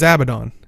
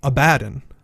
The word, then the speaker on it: Abaddon: In Guild Wars lore, his name is Abaddon. In reality, in our world, it's actually Abaddon.